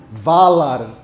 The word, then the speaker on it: Valar: Toda vez que alguém pronuncia uma palavra élfica como oxítona, morre um elfo da floresta, gente. Não façam isso, tá? Por favor. Ainur, Valar, Haradrim.